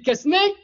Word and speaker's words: Quesnay: Ça s'écrit Quesnay, ça se prononce Quesnay.